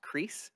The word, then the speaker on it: Cris: I think it's pronounced Crease, like C-R-I-S.